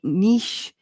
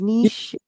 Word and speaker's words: niche: with his podcast his n yeah his n Niche his Niche I've been pronouncing it wrong for the last eight nine years I thought it was nich it's nich I pronounce it Niche uh you know potato potato Joel it doesn't